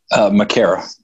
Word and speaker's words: Makara: Well, what's the correct pronunciation of your last name? So I don't botch it. Makara.